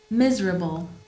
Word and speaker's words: miserable: Gorgeous, miserable. Donc là, vous avez l'accent tonique sur, et c'est un hasard, il n'y a pas forcément de règle malheureusement en anglais, à chaque fois sur la première syllabe.